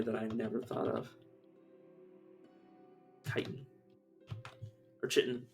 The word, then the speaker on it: chitin: Chitin. Or chitin. I prefer chitin, personally. Chitin. But yeah, chitin's definitely. Pretty sure that's the way it's actually supposed to be pronounced.